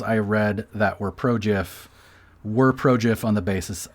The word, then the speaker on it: GIF: speech to say quote it's pronounced jif not gif end quote boom case